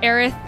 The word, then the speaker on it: Aerith: uh well i mean there's a reference point for aaron you're supposed to sound like earth oh okay did you know that no the context for eric's pronunciation was supposed to be supposed to be like the word earth i had no idea